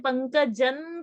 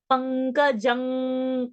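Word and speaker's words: पङ्कजं: So that pankajan kalimalam, no. Pankajang kalimala. So when you do that Anuswara, you automatically form your mouth in such a way and you enter the next pronunciation, which the location is of that.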